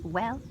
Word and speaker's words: bhuel: So we can see there are two pronunciations for BH, v and w, on van, the woman, and well, which means well.